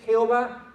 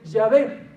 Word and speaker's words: Yahvé: y a los consonantes dijeron que no se dice Jehová que se dice yahvé que es más preciso que es más certero pero hay alguien que